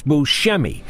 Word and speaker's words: Buscemi: starting with his name he pronounces it Buscemi although he learned later in life the correct Sicilian way is Buscemi and the big thing